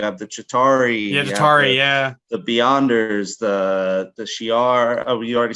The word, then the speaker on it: Shi'ar: I'm going to go for the Shi'ar. Yep. Is that how you pronounce it? Shi'ar. Shi'ar, yeah. SHI apostrophe AR.